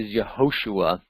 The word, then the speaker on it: Yehoshua: But anyway, Jehoshua, very similar to what we saw with Yehoshua. We take that J and just slip it into the Yud, the Y sound.